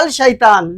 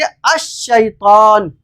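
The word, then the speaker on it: الشيطان: ये लिखा हुआ है अल शैतान, लेकिन हम इसको पढ़ेंगे अश-शैतान, अश-शैतान।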